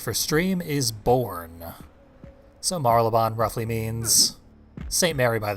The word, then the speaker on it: Marylebone: We're in a town that I believe is pronounced Marylebone. The loading screen fucked it all up, called it Saint Marylebone.